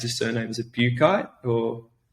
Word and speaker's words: Buchheit: And some of the research put forward by, I don't know how to pronounce his surname. Is it Buchheit or? Boucher.